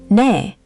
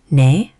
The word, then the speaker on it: 네: In Korean, 네 is the verbal equivalent of that nod.